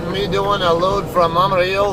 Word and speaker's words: Amarillo: doing a load from Amaro or as you guys all like to call it Amarillo I don't pronounce it the stupid American way sorry guys but I got to Spanish speaking life and she'll kill me if I pronounce it that way uh um anyway um